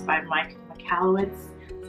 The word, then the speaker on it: Michalowicz: I think it's by Mike Michalowicz, that's how you say his name, but I'll have a link in the description below.